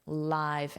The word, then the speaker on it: live: And then remember the pronunciation, live ants.